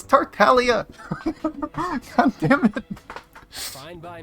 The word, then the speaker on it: Tartaglia: the charges against Mr tartaglia no longer they pronounce his name wrong it's Talia God damn it fine